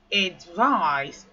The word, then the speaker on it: advise: So the previous word is advise, while this word is advise. Hmm? Let's read through the transcription. So you have ed, gives you ed. Then you have I, gives you vi. Then z. Let's pronounce it together.